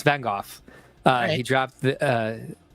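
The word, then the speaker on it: Van Gogh: wings and some other Design Elements elov says Vango actually pronounced like mine uh yeah it's vanov uh he dropped the uh he dropped the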